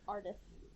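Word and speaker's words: Ardeth: they never say his name his name is arith arith okay uhhuh it is not just a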